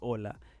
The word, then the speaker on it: hola: is the letter h in spanish you don't pronounce the letter h as you can see when you say hola in spanish so that's